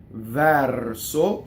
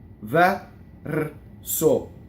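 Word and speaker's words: verso: Del, D-E-L, vɛrso for the poetry, open E. Doesn't rhyme with chair, like the chair, it's vɛrso. That's how you practice. Vɛrso.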